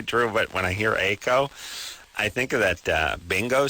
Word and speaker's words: Eiko: Aiko? Aiko. Aiko? Yeah, Aiko. How do you spell it?